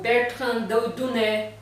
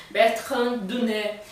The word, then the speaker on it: Bertrand Daunay: francês, que é o Bertrand Dunet, ou em português, Bertrand Daunay, né? Mas em francês a gente pronuncia Bertrand Dunet.